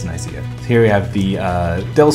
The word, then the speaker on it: Nicaea: The Gyps logo, Nicaea, or however you like to pronounce it, Nicaea, but you'd be wrong because it's Nicaea.